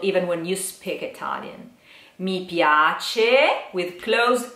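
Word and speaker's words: mi piace: Caro you try okay me piace you try me me piace okay let's divide in syllables which may help a little bit me yah-tchi this C is like check check check same cheap okay so me piace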